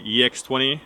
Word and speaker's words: EX-20: the Fujifilm X20 or maybe I should pronounce it as the ex20 because there is an X20 as well a bit later camera